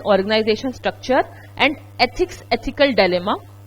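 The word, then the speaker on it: dilemma: Then organisation structure and ethics ethical डिलेमा, डायलेमा कोई नहीं बोलेगा, इसकी करेक्ट प्रोनाउंसिएशन इज डायलेमा।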